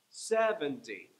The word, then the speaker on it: seventy: And so there's three syllables there. 70. So just imagine a descending staircase.